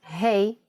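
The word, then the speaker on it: הא: time for Yanis insights doesn't hate from this lesson sound like hey in English when you say hello to your friends that's exactly the sound for the Hebrew letter hey now you can think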